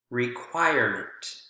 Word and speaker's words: requirement: Require, requirement, require, requirement. No change, still on the choir sound, or the choir syllable.